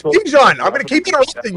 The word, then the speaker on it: Bijan: Bijan Robinson ran a ton of gap runs at Texas. And Bijan told Stefanski...